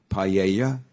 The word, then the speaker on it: paella: how to say it don't even say the L actually it's like I don't know the proper way to say um paella you know the most famous Spanish dish yeah it's p-a-e-l-l-a yeah okay so you say that there's like a y so I always thought